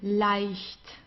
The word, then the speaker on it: leicht: just as with IE, we pronounce it as I, leicht.